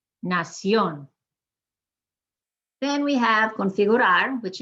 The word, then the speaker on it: nación: Admiración, nación.